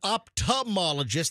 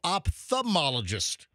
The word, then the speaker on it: ophthalmologist: And do you pronounce the TH, the ophthalmologist? Like, that's what MJ does. He really overpronounces that TH. No, I don't. Yes, you do. You and Fester said ophthalmologist, and I'm like, no, ophthalmologist. MJ's correct.